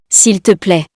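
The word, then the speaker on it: s'il te plaît: way to say please so we say that sill to play don't forget the accent on the eye as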